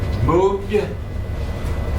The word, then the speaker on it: moved: move past tense moved moved is a D sound at the end not e d not move it moved move okay Sima number